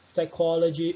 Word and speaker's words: psychology: Enfim, percebam, eu não pronunciei pneumonia, é pneumonia. Psychology, eu não pronunciei psychology. Também não pronunciei pterodactyl, é pterodactyl. Beleza?